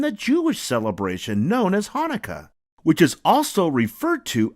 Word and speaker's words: Hanukkah: But no matter how you spell it, it's always pronounced the same way. Hanukkah. Say it with me. Ha-na-ka. Hanukkah.